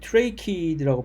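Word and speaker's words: tracheid: 두 가지 종류의 세포는, 하나는 헌물관이라고 하는 트레이키드라고 발음합니다. 트레이키드, 헌물관, 한국말로.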